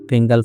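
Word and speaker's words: Fengal: ছত্রাক হিসেবেও আমরা ধরি ফেঙ্গাল ফাঙ্গাল বা ফাঞ্জাল বলে অনেক কেউ উচ্চারণ করছে আসলে যেটা উচ্চারণ হবে এফ ই এন জি এ এল ফেঙ্গাল বা ফাঙ্গাল এই দুটো উচ্চারণ আমরা দেখতে পাচ্ছি এই ঘূর্ণিঝড়ের নাম দিবে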